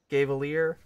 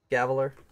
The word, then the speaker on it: Gaveler: Gavalier. Cavalier? Nope. G-A-V-E-L-E-E-R. Gaveler? Gaveler. Huh. Like it's got a gavel in its hand?